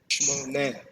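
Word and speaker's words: שמונה: Shemonet. This is also a cluster. Shmoneh. Shmoneh.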